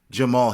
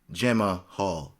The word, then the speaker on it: Jamahal: thiago mahetta santos and jamal hill not to be confused with gemma hall hill as it's spelled anyhow as always guys